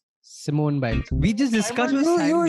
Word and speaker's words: Simone Biles: I got the name pronounced correctly. Simone. Simone Biles.